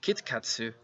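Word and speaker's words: キットカット: They pronounce it as Kitkatsu, which means good luck in Japanese.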